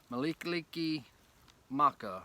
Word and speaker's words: Mele Kalikimaka: Malikaliki Maka. I can't ever pronounce that right.